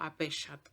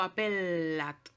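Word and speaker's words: appellat: O la doble L, en latín es una doble L, o sea, suena como L más L. No digo apellat o apeliat, digo apellat, ¿sí?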